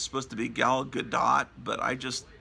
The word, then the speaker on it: Gadot: I mean, it's supposed to be Gal Gadot, but it's real hard to pronounce that T.